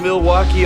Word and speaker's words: Milwaukee: Do you come to Milwaukee often? actually is pronounced milwauke for the good land.